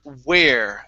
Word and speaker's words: where: we have the word where okay give me a good W instead of tell me where okay oo start off with an oo sound tell me you tell